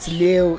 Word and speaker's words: Leeuw: You know, so the way you spell my surname is how lion is spelled in a Dutch language. Okay. But in Afrikaans they drop the W.